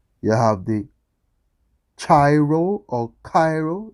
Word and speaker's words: Cairo: Cairo, Egypt, as a boy's name is pronounced Cairo with a K, Cairo or Kiro.